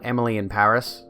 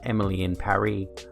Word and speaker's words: Emily in Paris: it was everyone called emily in paris but allegedly according to the creator they're supposed to be pronounced emily in paris um so it rhymes you know uh apparently